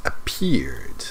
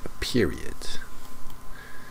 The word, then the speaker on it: appeared: But let's start with the pronunciation of appeared. It's appeared, not a period.